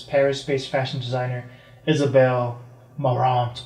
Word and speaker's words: Marant: says Paris-based fashion designer Isabelle Marant, or probably Marant, because the French for some reason don't pronounce T's.